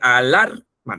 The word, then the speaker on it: alarma: O sea, el que dice alarma, ¿no? La que está junto a la R. Esa es la sílaba tónica.